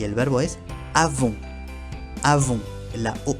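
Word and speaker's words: avons: Avon. La on n se pronuncia on. Y la última s al final no se pronuncia.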